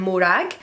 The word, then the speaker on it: Morag: Her two best friends are Calder and Morag. You don't have to roll your R's. I recognise that not everybody can roll their R's, so that's okay.